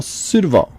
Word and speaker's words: Surdoval: today we're talking two and I'm going to mispronounce the name again I'm gonna get this right Michelle suitoval that's it okay he's close close so certain